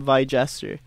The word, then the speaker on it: Vie Jester: How'd you guys choose out your name, Vie Jester? Am I saying it right? Is there yeah, a no. pause or Vie? It's pause 2 words.